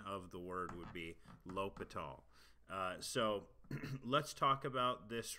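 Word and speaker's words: L'Hôpital: this is called l'hopital's rule and some people pronounce this l'hospital's rule just because that's kind of what it phonetically looks like but the privet the correct pronunciation of the word would be lopat all so let's talk about this rule and so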